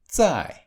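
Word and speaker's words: 再: không có âm cuối: "Z" được phát âm giống như "dz": zài.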